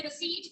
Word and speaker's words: receipt: ठीक है, अकाउंट्स में मैं उसे रसीद कहा करूंगी, पी साइलेंट रहेगा।